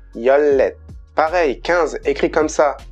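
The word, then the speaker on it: 열넷: 14, écrit comme ça, j'entends beaucoup dire yolnet, mais en fait c'est yollet.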